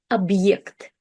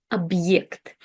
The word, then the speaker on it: объект: But when we have the hard sign, it introduces this kind of like short pause into the word, and we restart the letter ye, the vowel ye, with its full sound. Ye. Объект. Объект.